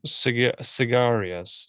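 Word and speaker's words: Syagrius: independent roman governor seducerous cigarious like it's not like a cigar it's pronounced s-y-a-g-r-i-u-s but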